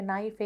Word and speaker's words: knife: පිහිය knife ඒ හැම තැනදීම K silent.